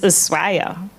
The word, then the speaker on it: Ushuaia: from Buenos Aires to Ushuaia. See, I had been taught that it was pronounced Ushuaia until I got there and the native said, it's Ushuaia.